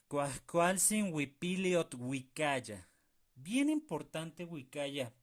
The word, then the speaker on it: uikaya: Bien importante wicaya, pronunciarlo bien, ¿de acuerdo?